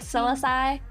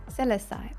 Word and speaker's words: Celesty: I thought it was like Silicai. Celestai. Okay, so Celestai.